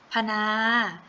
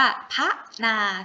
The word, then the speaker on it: พนา: ว่า ป่า นะ คะ พนา ไม่ ได้ ออก เสียง ว่า พระ นา ถูก ไหม คะ เวลา ครู อ่าน ออก เสียง ครู จะ อ่าน ออก เสียง อะ กึ่ง เสียง เท่า นั้น ครู จะ อ่าน ออก เสียง ว่า พนา นะ คะ อ่ะ ต่อ ไป